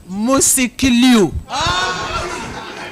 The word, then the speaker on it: Musikilu: After 4 years, I was so sure that you would pronounce Musikilu today. What is it? How is it called? Musikilu.